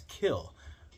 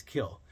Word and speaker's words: kiln: Kiln is pronounced sometimes as kill, with the N is silent, which is something that